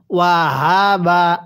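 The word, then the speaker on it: وَهَبَ: এই গোল হা গুলো উচ্চারণ করার সময় আমরা গলার মধ্যে আওয়াজ করে পড়ব। এটা উচ্চারণের সময় যদি হা এরকম ভাবে পড়ি তাহলে পড়াটা শুদ্ধ হবে না।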